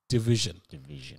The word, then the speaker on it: DVSN: It's spelled DVSN, but it's pronounced Division.